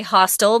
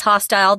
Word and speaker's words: hostile: hostile or hostile hostile I say hostile but Pat says hostile they're both correct so who doesn't sound